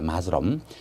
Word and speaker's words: Muslim: 읽을 때는 영어로 읽을 때는 마스럼이라고 읽을 때 마스럼.